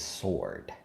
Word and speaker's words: sword: not sword, it is sword. I like, listen, son, it's spelled sword, it's a sword. Okay, they shouldn't have put that W in there if they ain't want you to say sword.